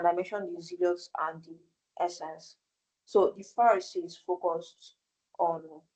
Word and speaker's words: Essenes: The essence is spelled ESSENES. That's essence.